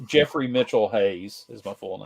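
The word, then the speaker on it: Geoffrey: with the cannibal it's spelled Joffrey but it's pronounced Jeffrey in the commercials it's pronounced Jeffrey really so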